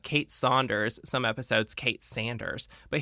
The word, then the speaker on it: Saunders: And in these episodes that we're talking about, she actually pronounces Kate's last name as Saunders, but in most of the series, she says Sanders.